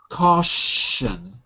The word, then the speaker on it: caution: one for me caution caution CAU with a sh caution C good C okay and Au is like all like ball okay very good